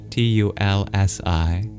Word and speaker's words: Tulsi: So you'll probably find it easier if you search up T U L S I without the A between the L and the